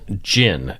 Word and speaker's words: djinn: grew up with yeah they're called Jin and it's spelled DJ I NN and do you want